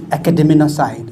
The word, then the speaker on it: academinocide: protest in fact this many people struggle with the with the uh uh pronunciation it's academ side okay um for S